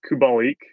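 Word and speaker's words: Kubalík: Because the other guy that I have been riding pretty hard the last 5 or 6 games is Kubalik. That's the pronunciation.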